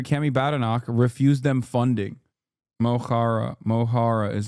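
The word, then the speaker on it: Mo Chara: Mohara is how you pronounce it. Mokhara.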